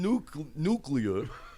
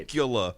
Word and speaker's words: nuclear: it got some nuclear. Now I said it right. Nucula, Nuclear. which is not an Indiana accent, right?